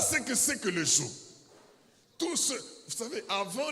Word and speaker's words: joug: C'est pourquoi je prononce « g », pour que vous compreniez que ce n'est pas la joue, c'est le joug.